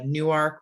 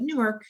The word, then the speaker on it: Newark: up to bear uh newark we don't call it newark here like in new jersey and call it newark used to be two separate words that's why they pronounce it that way um glasgow it's there's